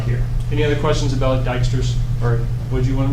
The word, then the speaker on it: Dijkstra: Then why is that J there? Oh, anyway. I think, well, it's just the way it's pronounced. Sure. No, it's And I don't make up the English. actually that's not English. It's That's Dutch. Netherlands. It's actually Dutch.